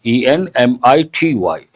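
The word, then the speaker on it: enmity: one is uh enemity generally pron generally we pronounce this enemity but what is the spelling e n m i t y enemity but how do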